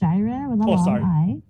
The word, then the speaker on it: Jirrah: little correction uh so my name is pronounced jira it's okay i think